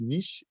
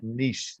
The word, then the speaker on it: niche: to clarify i know niche rhymes with rich but it's nice i'm sorry it used to be it's a french word it's pronounced niche so it's niche but i know that